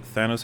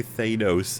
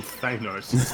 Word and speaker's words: Thanos: It was But you'd also say Thados every time. Yeah. Cuz that's not even an American pronunciation or anything. That's just wrong.